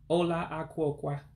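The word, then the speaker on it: ụlọ akwụkwọ: So again, how to pronounce school would be Ola Ah-Kwoe-Kwah, which means school in the Igbo language of Nigeria. Again, you break it down as Ola, which means house, and Ah-Kwoe-Kwah, books.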